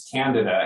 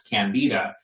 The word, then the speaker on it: Candida: he was very clear with me that the pronunciation is canada and yet everyone says candida and so i kind of defaulted to saying